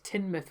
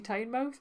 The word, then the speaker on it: Tynemouth: going to is Tynemouth, which I do sometimes hear people pronounce as Tynemouth, which I find really odd because it's the River Tyne, therefore if it's the mouth of the Tyne, should it not be Tynemouth?